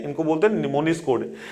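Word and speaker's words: mnemonics: बोलते हैं इनको बदल निमोनिक्स कोड इसमें जो एवं है यह आपका साइलेंट है यह इसमें कई वर्ड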